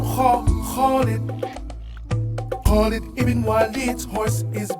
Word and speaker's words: Khalid: The name Khalid also starts with the Kh sound. I know this sound doesn't exist in the English language, but it is easy to pronounce it. Just scratch the back of your throat and say Kh, Kh.